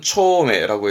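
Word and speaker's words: 丁目: 발음은 초메라고 해서 이 정자니까 아까 그런 고무래라든가 못을 맸던 부분이 있는데 그런 고무래 못으로 이제 구역을 나누게 되지요.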